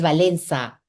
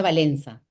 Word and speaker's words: Valença: Mi mamá es brasileña, entonces esta c con la colita se pronuncia como una s, ¿no? Entonces valenza, aunque se escribe, bueno, mis documentos peruanos está valenca porque no hay cómo poner esa letrita la civilia, pero se pronuncia valenza.